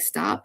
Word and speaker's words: stopped: And so the ED is pronounced unvoiced as well with the T, right?